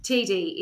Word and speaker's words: Tiede: And the reason is it's spelled Tiede. TD? Tiede? Radio. Tidy? Tidy. Tiede is the way I say it, but I've also heard it pronounced Tiede. So tedious. TD is what it should be.